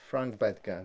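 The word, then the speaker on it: Frank Bettger: Frank Bedger, that's the pronunciation.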